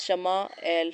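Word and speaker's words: יִשְׁמָעֵאל: نام یہ رکھا گیا۔ عبرانی میں اس کا تلفظ شمع ایل ہے۔ وادی غیر ذی زرع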